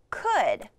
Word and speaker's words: could: Okay, this tricky word rhymes with should. Okay. The word is could.